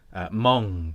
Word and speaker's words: moong: That's spelled, I should clarify, MOONG. But that's obviously being converted into English. Mong. That's Mong. Egg fried.